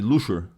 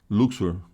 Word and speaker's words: Luxor: Então aqui é Tebas, que hoje é chamado de Luxor. Luxor. Não sei, o X dá para pronunciar Xor ou Shor, né? Tanto faz.